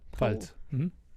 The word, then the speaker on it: Pfalz: the regions of Rheinhessen, Palatinate, Palatinate. Pfalz. Palatinate? Yeah. That's how you'd say it in German? No, in German it's the Pfalz.